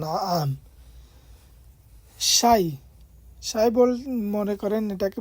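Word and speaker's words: نعم: এখানে না আম লেখা আছে, এটা আইনের উচ্চারণ হয় না আম।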